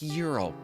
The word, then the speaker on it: Gyro: It's pronounced Euro.